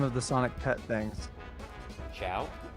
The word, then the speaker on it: Chao: Ciao. Ciao. Yeah, it's pronounced like goodbye.